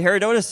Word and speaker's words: Herodotus: a need for hair Donuts yes so actually Herodotus is the father of History uh that's what